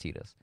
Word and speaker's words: Tidus: Like, Tidus sounds better, but it is canonically pronounced Tidus.